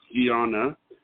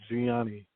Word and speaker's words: Gianni: The first one is Gianna. You're live on the air with Psychic Dayle Schear. Hi, Gianna. How are you? Hi. Yeah. This it's pronounced Gianni, like Gianni Versace, like Gianni.